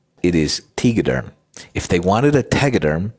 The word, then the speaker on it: Tegaderm: I will pronounce this. That's how I will not. It is Tegaderm.